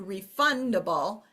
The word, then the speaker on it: refundable: pronunciation changes okay so we go from tax to taxable refund to refundable and you can really hear the accent shift in that where refund refundable okay but I'm going to